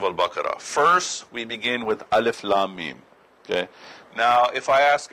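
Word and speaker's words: الم: this Alif Lam Mim, how do I know that this is pronounced Alif Lam Mim? If I just look at it on the page, it just looks like Alama.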